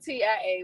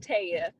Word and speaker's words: Tia: Okay, so my name is spelled Tia, but it's pronounced Taya.